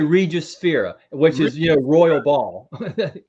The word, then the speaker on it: Regius: Pronounce it. Regius. Yeah, I say Regius Sphera, which is, royal ball.